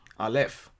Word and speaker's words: Aleph: You pronounce it Aleph.